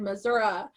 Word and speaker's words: Missouri: So, and also it's right on the line between Kansas and Missouri. So, or my grandpa would have said Missouri. So there's different pronunciations.